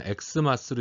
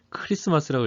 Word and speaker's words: 크리스마스: 이건 엑스마스로 읽지 마세요. 이건 X가 아니라 뭐라 그랬죠? 이건 헬라어라고 말씀을 드렸어요. 크리스토스. 이건 크리스토스라 그래서 이건 헬라어입니다. 그래서 크 사운드가 나요. 그러니까 그냥 크리스마스라고 읽으시면 됩니다. 엑스마스가 아니에요.